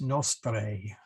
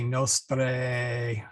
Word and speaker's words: nostrae: So anyway, we do have one diphthong in our Ave Maria, in hora mortis nostrae, that AE in there. So you want to say nostrae, not nostrae, nostrae.